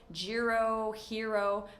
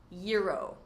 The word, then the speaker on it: gyro: They would say gyro, hero, but I've learned that the most correct pronunciation is gyro.